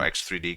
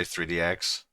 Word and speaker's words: X3D: the uh you know X3D cash. You you constantly say it wrong. It is X 3D. Did I say 3DX again?